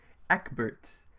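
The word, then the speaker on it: Ecbert: that was in a different language but apparently Ebert is uh the more common pronunciation so I'll stick with that so unfortunately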